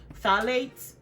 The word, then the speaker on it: phthalates: aside and push out the P is silent phthalates parabens or talk made